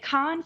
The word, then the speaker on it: Cannes: Is that how you say it? Cannes? It's Cannes. Be cultured. Cannes. I am very smart. And I know things of the world. It's Cannes, yeah.